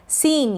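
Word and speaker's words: scene: कुछ एग्जाम्पल्स देखेंगे, जैसे कि पहला एग्जाम्पल है सीन। यहाँ पर एस सी के बाद में ई है, इसलिए हमने एस सी को स पढ़ा और ये जो ई है बड़ी ई के रूप में पढ़ा जा रहा है।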